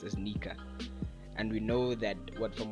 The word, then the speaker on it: Nika: the SFX or the sound for it is pronounced as Nika.